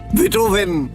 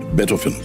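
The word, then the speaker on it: Beethoven: রচনা শুনিনি বটে কিন্তু এদের নামের উচ্চারণগুলো অন্তত আমার জানা আছে কিন্তু আপনার নেই কিরকম হাইডন মোসাদ বেটফেন এই হল আসল উচ্চারণ হাইডেন মোসাদ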